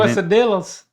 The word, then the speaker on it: quesadillas: Make the L's a Y. Quesadilla. D-I-L-L. Make that D-I-Y-A-S. Quesadilla. Yep. Yeah. You almost got it. D-I-Y. Quesadilla. There's no L's.